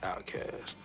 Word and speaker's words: Outkast: Outkast, pronounced outcast, an adjective meaning homeless or unaccepted in society.